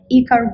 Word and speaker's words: iKAR: Today we have our amazing guest, iKAR Wood. Did I pronounce it correctly? Yeah, iKAR is great.